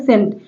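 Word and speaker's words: scent: सेंट यहां पर देखिए सेंट ऐसे बोला जा रहा है सेंट यहां पर देखिए इस सी का उच्चारण नहीं हो रहा है तो जिस वर्ड का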